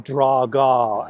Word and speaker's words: Drago: And then they introduce us to Ivan Drago, or Ivan Draga, as the Russians pronounce it.